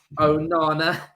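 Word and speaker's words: Onana: to pronounce it right Oh Nana Oh Nana it's Rihanna so I'm getting it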